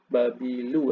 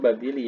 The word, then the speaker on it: babili: Yaitu ke babu. Ini dibaca harusnya babili ya karena dia ee terletak setelah preposisi sebagaimana bahasa Arab. Sehingga babili.